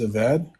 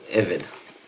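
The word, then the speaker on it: עבד: So the word there is aved. How do you pronounce that for slave? Aved. Eved. Eved. So Yep.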